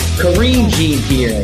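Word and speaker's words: Karine Jean-Pierre: Kareem Jean Pierre.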